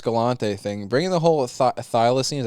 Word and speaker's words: thylacine: uh uh Forest galante thing bringing the whole thylacine is how you say it yeah after just